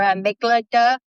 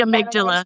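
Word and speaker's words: amygdala: And I and I was reading about our make our amiga part of the brain. Probably pronounced it wrong. The amydala.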